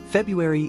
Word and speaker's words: February: pronounced as FAU ERI the correct pronunciation includes the r sound after the B though it's often dropped in casual speech February is the second month